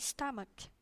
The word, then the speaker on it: stomach: Stomach, bacanya ya, O nya ini nggak jadi O tapi stomach.